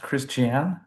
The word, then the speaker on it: Christiane: So, hello Miss uh is your name pronounced Christian?